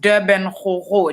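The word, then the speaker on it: DBN Gogo: It's pronounced Durban Ho, just like the city, but it is spelled DBN, and it is Ho, like go.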